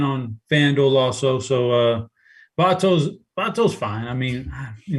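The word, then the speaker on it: Votto: conversation but chop how do you feel about vato and the rest of the first baseman yeah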